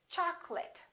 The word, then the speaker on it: chocolate: of people get wrong we don't say cha call let we say chocolate I remember don't say choc'late it's chocolate I'd like some chocolate